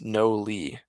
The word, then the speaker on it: Nolly: Nolly says, it's no Lee. That is how you pronounce it.